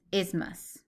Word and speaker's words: isthmus: put it together its isthmus so that th is silent okay that's important so